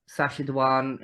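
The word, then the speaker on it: Sacha Dhawan: of the doctor but I really uh enjoyed sasad danan is that how it's pronounced yeah as the master 18 grew up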